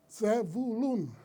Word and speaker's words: Zebulún: Zebulún, se pronuncia en hebreo, Zebulún.